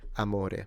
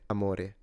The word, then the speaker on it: amore: go accentless on this I would say amore amore the difference is not only the intonation but the o and the e are closed vowels so a mo rather than all right I don't know